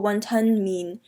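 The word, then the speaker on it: 雲吞麵: So to properly say wonton noodles in Cantonese, you would say won ton mean, not mian but mean,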